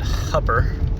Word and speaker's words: Hooper: i'm here in hooper nebraska whereas the locals probably pronounce it hubber this is a pretty